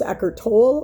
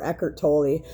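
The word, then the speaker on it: Eckhart Tolle: again it can he his name can be pronounced echer tool or echer tooli again he's the uh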